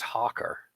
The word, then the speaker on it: Hakr: His name is Hawker. That's spelled Hakr.